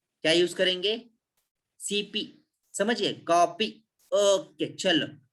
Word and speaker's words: cp: देखो इसका pronunciation कॉपी, कॉपी। Okay, देखो प्रोनाउंसिएशन में क्लियर हो रहा है।